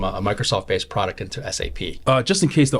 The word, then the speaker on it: SAP: it it's sap pronounced sap not sap people refer to it as sap yeah a lot of people have yeah and they get absolutely crushed it's an acronym so sap so basically